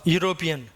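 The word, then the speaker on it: European: எழுதும் போது தான் சார் ஈ வரும், உச்சரிக்கும் போது அந்த ஈ பறந்து போய்டும் சார், அதுக்கு சவுண்டு கிடையாது, சைலண்ட். அப்போது யூ அப்படிங்கிற உச்சரிப்பு தான். நான் ஏற்கனவே சொல்லியிருக்கேன், யூங்கிறது யா அப்படிங்கிற உயிர்மை எழுத்து.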